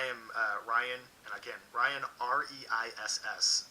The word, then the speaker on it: Reiss: Guys, I am Ryan, and again, Ryan, R-E-I-S-S, pronounced Reiss, it's very German, on the Critical Role Fan Club and the Dungeons & Dragons group on Facebook.